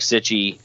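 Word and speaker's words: Cichy: Jack Sitchy and Sitchy. Is that it? Not Psyche? Yeah, I'm pretty sure. Yeah, it's Sitchy. Okay. I haven't heard it pronounced any other way.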